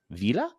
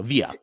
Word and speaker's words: Via: joined today by, and it's Vila. Did I say it right? I said it wrong, right? No, Via. It's Via. Yes, I wanted to add extra L.